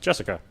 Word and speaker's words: Jessica: Anyway, is pronounced Jessica.